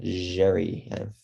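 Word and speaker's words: Xerri: to be bringing in tristan jerry that's how you say his name um really good start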